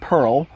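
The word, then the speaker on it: Perle: The bittering hops are Pearle, most people pronounce it Pearle, and Saaz, most people pronounce it Saaz or Saaz.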